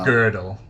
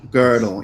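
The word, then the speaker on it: Gödel: girdle I always mispronounce his name because it's pronounced girdle yeah girdle yes um he isn't my mind some uh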